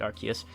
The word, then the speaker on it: Arceus: I tried getting back into the series with Legends Arceus, yes I pronounce it Arceus, and Pokémon Violet, and while I did have